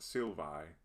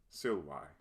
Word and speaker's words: silvae: To pronounce this word, remember that the Latin V sounds like the English W. Also, the diphthong AE is I and not A. So this word is not silvae or silvae, but silvae.